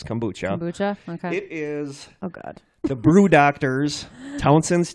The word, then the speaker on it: kombucha: another kombucha to try I looked up how to pronounce it because I didn't know if it was kombucha or kombucha it is kombucha Jeff the brew doctors